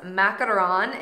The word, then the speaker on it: macaron: to try traditional French crepes traditional French macarons macaron is how you do the two light pastries with the ganache in the center a macaroon is the coconut like the coconut treat a macaron is how you pronounce it for like the